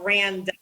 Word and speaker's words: Randa: It's spelled Randa, so rhymes with panda.